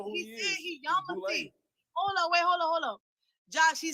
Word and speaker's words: Yamasee: But Josh, he said he Yamasee. Hold on. Josh, he said he Yamasee. So or Yamasi, as some people pronounce it.